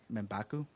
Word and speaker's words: M'Baku: And I understand that I pronounce it M'Baku.